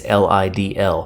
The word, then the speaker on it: Lidl: or maybe you have i think it's pronounced lidl it's lidl all these are really really